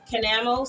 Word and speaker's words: Canamo: Canamo, C-A-N-A-M-O.